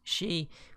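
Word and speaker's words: 四: Traditionally, 4 is unlucky because it is sometimes pronounced Shi, which is the word for death.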